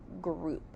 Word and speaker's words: group: The next word is the word group. Say group. Sound group. Oop. Group. G being a G. Being an R. Ooh is typically spelt with an O, but here it's spelled with OU.